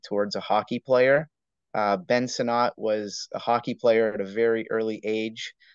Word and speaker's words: Sinnott: Somebody tell me how to pronounce that, because yeah, Sinnott.